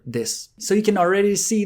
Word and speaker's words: desu: to pronounce, followed by the final desu, or this.